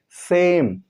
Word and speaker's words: same: जैसे सेम, SAME, यहाँ पे अंत में ई है लेकिन इसका उच्चारण नहीं होता।